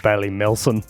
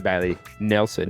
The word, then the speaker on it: Bailey Nelson: No, you said the name wrong. What did I say? You said Bailey Melson. Hey, to be fair, he couldn't read the name. To be fair, I took Mum to Bailey Nelson.